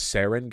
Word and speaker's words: sarin: though yeah it it is good too it's pronounced sarin gas I know it's pronounced sarin gas I